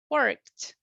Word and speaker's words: worked: So the pronunciation will be worked, worked. Imagine that instead of the ED, you have a T.